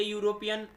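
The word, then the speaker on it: European: ए यूरोपियन में देखो यहाँ पर वॉवेल अक्षर है पहला, लेकिन हिंदी उच्चारण में यू आ रहा है, क्या आ रहा है हिंदी उच्चारण में, यू, यूरोपियन में क्या यू आ रहा है, इसलिए यहाँ पर ए लग गया।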